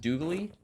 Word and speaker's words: Dooglie: Wait, is his name pronounced Dooglie? Yeah. So you're Doogile and he's Dooglie. Yeah.